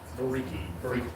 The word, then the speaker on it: Vereecke: Briiki. Think of it. It rhymes with everyone in my high school.